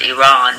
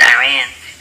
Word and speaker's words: Iran: I moved to Iran, which you guys in here pronounce Iran, but we pronounce it Iran.